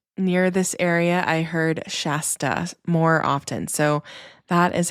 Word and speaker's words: Shasta: When I lived near this area, I heard Shasta more often. So that is how I will be pronouncing it.